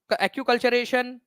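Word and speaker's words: acculturation: Friends, ठीक है, okay, acute कल्चरेशन। तो कल्चरल रेम, एक्यू कल्चरेशन, ठीक है, एनकल्चरेशन क्या कहा जाता है, तो एक्कल्चरेशन या एक्यूकल्चरेशन इसको बोलते हैं आप लोग, एक्यूकल्चरेशन इसका करेक्ट प्रोनाउंसिएशन है, ठीक है, पर संस्कृतिकरण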